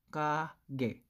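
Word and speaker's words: 가게: So ito po, for example, it is kage. Kage. Kage. Ayan. So, alam nyo na. First syllable, letter K. Second syllable, G.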